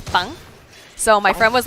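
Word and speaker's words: 빵: When I was learning how to say the word bread in Korean, I couldn't get the hard sound down. It's bang.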